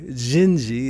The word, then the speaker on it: Dindi: bit about this that sometimes those letters aren't pronounced the way they look. So anyway, Gingi is kind of the rough pronunciation of it.